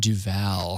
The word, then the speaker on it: Duval: It's Trayvon Duval.